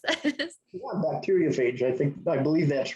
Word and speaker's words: bacteriophage: How do you pronounce this? Yeah, bacteriophage.